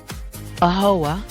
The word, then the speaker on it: AAHOA: What are the things that AAHOA, is that how you say it?